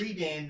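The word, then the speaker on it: Readan: It has an E, but it is pronounced A. It's like, the Redan Mountains.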